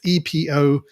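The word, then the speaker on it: EpocCam: I'm not sure how to pronounce it. It's Epocam.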